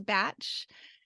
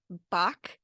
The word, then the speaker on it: Bach: so that might be why the pronunciation went to batch um but he uses the more traditional pronunciation of course I don't think I can ever change because I started saying it Bach so we you know